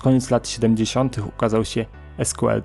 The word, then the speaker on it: SQL: lat siedemdziesiątych ukazał się SQL czy też sequel jak niektórzy wymawiają jego nazwę język służący do projektowania